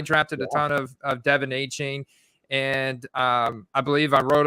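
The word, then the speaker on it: Achane: Wants to chat some Devon A-Chain, or should I say Achan. He's decided to change his pronunciation again.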